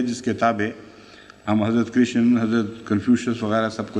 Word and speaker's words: کرشن: سے ہو سکتا ہے، دوسرے کرشن کا ایک تلفظ کاہن بھی ہو سکتا ہے، کیونکہ رے بعض دفعہ تحلیل ہو جایا کرتی ہے۔ اسی حدیث پر بنا